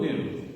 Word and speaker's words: nu: Nu. Yeah, so the mu looks like a U, and the V is like an N sound, right? So mu, nu.